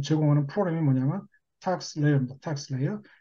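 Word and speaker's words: TaxSlayer: 텍스 레이어. 텍스 슬레이어가 아닙니다. 미국 애들한테 강요하면 또 그렇게 얘기합니다. 텍스 레이어입니다. S자가 묵음입니다.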